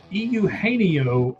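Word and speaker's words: Eugenio: I'm going to help you pronounce his name for you. Euaneio Suarez.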